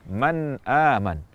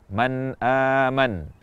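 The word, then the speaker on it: مَنْ آمَنَ: dihindari ketika mengucapkan izhar jadi pengucapan kata Man aman adalah dengan jelas tanpa tambahan kadar gunah tanpa dipantulkan tanpa dihentikan dan juga tanpa menghilangkan gunahnya Man aman atau tanwin bertemu Hamzah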